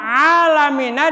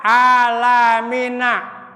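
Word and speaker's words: العالمين: Sekarang alamina dibaca alamina. Ya. Mestinya ain jadi pakai hamzah.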